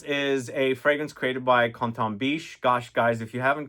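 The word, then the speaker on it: Quentin Bisch: Well, I'm trying to say it in French because every time I pronounce his name in Quentin to French people, they correct me and do Canton, so that's why I'm doing that.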